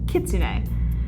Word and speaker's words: Kitsune: her first name is technically supposed to be pronounced Kitsune, but she was one of my early OC's